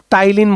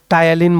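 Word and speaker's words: ptyalin: Correct answer is salivary amylase, টাইলিন বলা হয়, পিটা সাইলেন্ট টায়ালিন বলা হয়।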